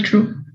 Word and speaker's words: truth: It's general truth. It's a generalization. Truth. ¿No? Se pronuncia así. Truth. True. Esta es la misma que usas cuando pronuncias esto. Think.